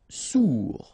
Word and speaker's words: sourd: Sourd, final D not pronounced, O-U together, ou sourd.